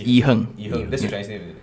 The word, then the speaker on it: IHerng: i your youtube channel is i-h-e-r-n-g yeah it's e-hung yeah that's my real real name wait so